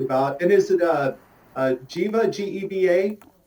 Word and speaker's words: Geva: And is it Geva, G-E-V-A? How do I pronounce that?